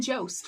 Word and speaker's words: Jost: Colin Jost rhymes with most.